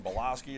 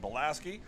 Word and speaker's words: Belaski: I was mispronouncing your name a lot earlier, saying Belaski or Belaski, but people corrected me and said Belaski.